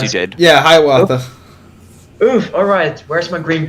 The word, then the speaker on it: Hiawatha: I didn't butcher the pronunciation. Yes, you did. Yeah, Hiawatha.